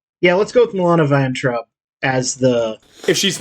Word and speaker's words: Vayntrub: I don't know how to pronounce Milana it. Vaintrub. Vaintrub, thank you.